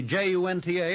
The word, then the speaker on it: Junta: Well, it says the J-U-N-T-A, and I think that's pronounced Junta, but I think it ought to be Hunter.